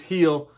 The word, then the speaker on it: Gil: um some stuff about heal here first of all i said you're saying it wrong it's not uh it's spelled uh gil but it's pronounced heal like i said pedigree